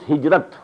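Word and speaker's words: هجرة: I said, at some time in my discussion that I'll explain the word hijrah also. Hijrah, which we in Urdu pronounce hijrat.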